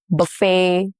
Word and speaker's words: buffet: Examples are ballet, buffet, crochet, all have the T's that are silent.